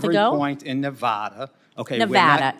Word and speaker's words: Nevada: point in Nevada okay Nevada it's Nevada sir please say it correctly it's Nevada if a veteran Liv